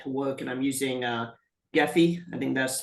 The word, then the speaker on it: Gephi: to get that to work, and I'm using Gephi. I think that's how you pronounce it. Yep. And I've imported the file. However, you get the data visualization. Yeah, but Nicholas, when you do Gephi, when you use Gephi or Cytoscope, any of